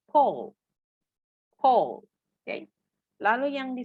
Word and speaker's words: Paul: Biasanya banyak yang membaca dengan Paul gitu. Kalau orang Indonesia bilangnya Paul ya, Paul, Paul. Nah, kalau dalam bahasa Inggris ini tidak dibaca dengan Paul, tapi Paul.